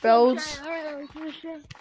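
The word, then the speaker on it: Brodes: My name is B-R-0-D-E-S, pronounced Brayards.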